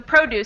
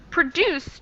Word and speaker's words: produce: one is a verb produce too much pollution yeah i think the first one is adjective it is the stress in the beginning but in the verb stress in the ending exactly yeah and that's